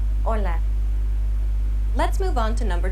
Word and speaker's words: hola: Hola. Notice that Alex does not pronounce the H sound. Hola.